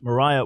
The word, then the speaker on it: Maria: up because there was a fiery preacher named Maria Woodworth editor some would say her name is pronounced Moriah Woodworth at her and she spoke of an